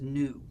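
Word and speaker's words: ν: but it's not so it's a Greek letter kind of like a V and it's pronounced new so this thing is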